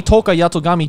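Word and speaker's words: Tohka Yatogami: And finally, we have the Date Alive 3 Toka Yatogami Chinese style dress version. You nailed that pronunciation, yeah.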